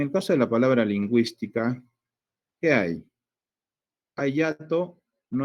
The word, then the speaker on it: lingüística: Pero hay una diéresis acá. Entonces, cuando lo pronunciamos, decimos lingüística. No decimos lingüística. Acá el sonido se pronuncia por lo de la diéresis.